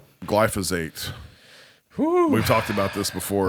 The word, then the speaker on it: glyphosate: I thought when I was hearing like Joe Rogan and people of that ilk talking about using glyphosate, right?